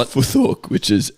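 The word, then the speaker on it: futhork: right anyway good luck next one uh foot spell it foor which is f u t h o r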